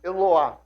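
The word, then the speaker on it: Eloah: Esse termo é eloá.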